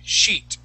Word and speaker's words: sheet: Now, what you want to be careful with is if you use the short I sound in pronouncing that E, it's going to sound like a cuss word. It's going to sound like you're saying mierda, okay?